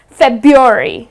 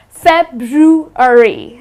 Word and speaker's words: February: The well, the way they pronounce it is February. They tend to drop the R, but that's incorrect. The correct pronunciation of this month is February.